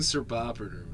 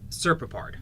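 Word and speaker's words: Serpopard: Oh, the Growling Sir Poppered. It's Prowling Sir Poppered. Leopard, or it's a Sir Poppered. That's not how you pronounce it, though. That's how it's spelled. Here, Serpapard.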